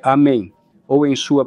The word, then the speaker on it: Amen: No Islã, é pronunciado Amin. Mas, quando a Bíblia foi traduzida para o latim, não existe o e longo em latim. Então, foi escrito A-M-E-N e as pessoas começaram a pronunciá-lo Amém. Agora, isso tem um efeito bem diferente na fisiologia.